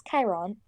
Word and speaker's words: Chiron: Also, it's pronounced. Yeah, it's Chiron, for one thing.